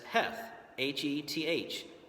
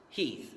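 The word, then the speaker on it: Heth: you've pronounced it as Hef heh Henry Hef but in reality it was pronounced Heath during the Civil War so this is really Henry Heath then we have this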